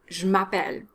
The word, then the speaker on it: m'appelle: french sounds are ignored the a in je m'appelle needs to be a strong r it's not a sound it's ma pel you know how in